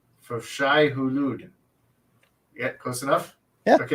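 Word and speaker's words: Shai-Hulud: For Shai Hulud. For Shai Hulud.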